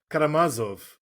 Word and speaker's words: Karamazov: Karamatsov. Karam, how would you pronounce that? Karamazov.